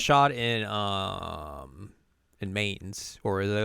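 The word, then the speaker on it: Mainz: gets like, shot in mains, or as I like to call it in this game, mines. I'm so mad that it's pronounced mines.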